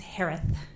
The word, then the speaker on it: Herath: maiden name last name is pronounced like Harris with a lisp it's herath h-e-r-a-t-h hello just as